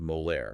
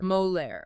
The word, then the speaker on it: Molière: That's M-O-L-E-I-R, pronounced Molaire. Molaire, okay.